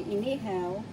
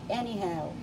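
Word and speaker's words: inihaw: speaks english very well so when he wants to say inihao he will say anyhow so this is veggies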